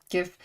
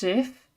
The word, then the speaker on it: GIF: Oh, thank goodness you said it with a hard G. This, yeah, okay, wait, hard G? Oh, GIF, yeah, GIF.